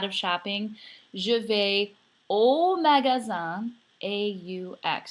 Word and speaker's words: aux: shopping Juve old magazine aux notice it's pronounced the same so we have three